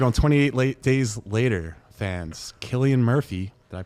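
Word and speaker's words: Cillian: Killian Murphy, did I pronounce that right?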